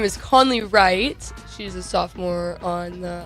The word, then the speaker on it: Wright: My last name is Wright. It looks like Rate It, but it's pronounced Right.